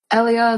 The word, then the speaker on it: Elia: Um Ellia, they pronounce her as Elia in this.